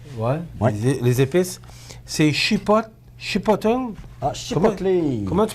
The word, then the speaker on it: chipotle: Les épices, c'est chipotle. Ah, chipotle. Comment tu prononces ça?